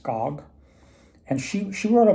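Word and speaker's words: Gag: Her last name is G A G, but it's pronounced Gog.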